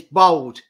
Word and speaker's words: Bold: That's B-O-L-D. It's Bold. bold. You say it bold, not bald.